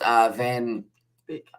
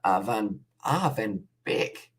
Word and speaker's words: Van Beek: It's pronounced Van Beek. Van Beek.